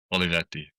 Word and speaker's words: Olivetti: Give me the Italian version. Olivetti. Okay, that's way better.